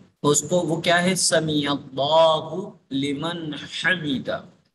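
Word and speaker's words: سَمِعَ اللهُ لِمَنْ حَمِدَه: کو وہ کیا ہے سمیع اللہ لمن حمیدہ۔ اس کو بعض لوگ سمیع اللہ لمن حمیدہ، لمن حمیدہ یہ غلط تلفظ ہے، سمیع اللہ لمن حمیدہ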